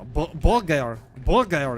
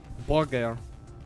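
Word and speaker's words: bulgur: Bulgar is the correct pronunciation, bro. Trust. Just ask any Ashkenazi Jew. Bulgar.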